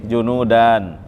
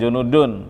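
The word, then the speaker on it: جنودا: Junudan, maf'ul bih, junudan, bala tentara. Jundiyun jamannya junud, jundiyun jamannya junud, karena dijadi maf'ul bih dibacanya junudan, bukan junudun tapi junudan.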